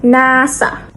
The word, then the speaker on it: NASA: Unlike initialisms like FBI or where each letter is pronounced separately FBA, acronyms are pronounced as a full words, like NASA is pronounced NASA.